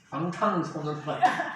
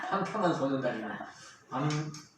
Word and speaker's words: 방탄소년단: 발음 잘해야 됩니다. 방탄소년단. 방탄한 소년단이고.